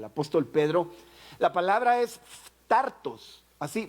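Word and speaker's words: φθαρτός: esta carta del apóstol Pedro, la palabra es phtartos, así, phtartos. Y la pronunciación y la escritura, si quiere dejémosla por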